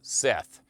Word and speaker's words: Set: adam in egyptian mythology the name of the god set is believed to have been pronounced seth it is likely that